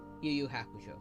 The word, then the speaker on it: Yu Yu Hakusho: Yu Yu Hakusho.